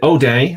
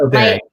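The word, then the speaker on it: O'Dea: So, and is it O Dea? Is that how I say it? Okay, yeah. So I'm saying it right. Yeah. O Dea.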